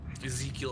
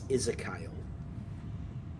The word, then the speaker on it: Ezekiel: Apparently, uh Will is very happy that I said Ezekiel, right? Mhm. As opposed to the way they pronounce it in the audio books, which irritates me every time I hear it. Ezekiel Abar. It's not Ezekiel in the audio books. It's Isakyle.